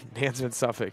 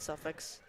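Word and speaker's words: Nansemond Suffolk: Nansman Suffolk. Nansman Suffolk, not Suffolk's, is also catching up here.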